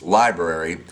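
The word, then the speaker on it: LBRY: V describes it lb ry pronounced library is an archiving platform that mirrors your channel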